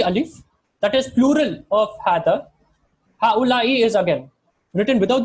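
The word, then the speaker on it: هذا: There's no alif written after the ha, but when you're pronouncing it, you would pronounce it as hada.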